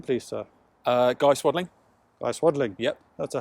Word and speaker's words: Swadling: Guy Swadling. Guy Swadling. Yep. That's a hell of a pronunciation.